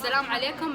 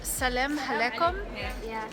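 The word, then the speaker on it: Salam alaikum: powerful safe so how do you say hello in Arabic what it's Salam alikoum and muhabba Sahel Salam alekum and muhabba Marhaba gotta practice bye guys so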